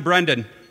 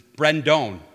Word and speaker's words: Brendan: My son, Brendan, it's spelled B-R-E-N-D-A-N. Okay, so he came when my dad was inducted, and they had up on the board, it was spelled with, instead of D-A-N, it was spelled D-O-A-N. It was Brendone.